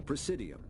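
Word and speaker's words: Presidium: To represent their interests, most species maintain embassies on the precidium, the Citadel's inner city. That's how you say it.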